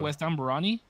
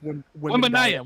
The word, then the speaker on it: Wembanyama: West Amberani. Bro, you could be pulling it. Wembanyama? First. What? Wembanyama.